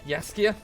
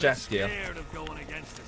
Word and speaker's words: Saskia: It's pronounced Saskia, not Saskia.